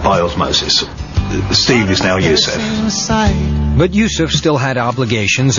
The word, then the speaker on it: Yusuf: He said, can't you use the Arabic pronunciation? I said, yeah, why not? So, Yusuf Islam.